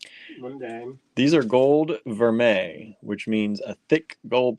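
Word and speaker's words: vermeil: me that right and it's not spell anything like you think it's spelled v e r m e i l right it looks like ril ver it's French I know but it looks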